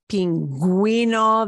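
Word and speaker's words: pingüino: it a lot but you'll hear it more like pinguino the U comes back and we do pronounce it there are so few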